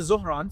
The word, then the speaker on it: Zohran: it's not Zoran, it's Zohran. Everybody calls him Zoran Mamdani. Yeah, that's like the white way of saying it.